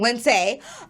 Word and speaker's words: Lindsay: You can still find me on Facebook at Lindsay, and apparently I've been saying it wrong, Lindsay.